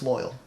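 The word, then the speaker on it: Loial: His name's Loyal. But it's spelled with an I.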